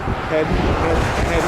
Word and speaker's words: Hayden: it's pronounced. Hayden.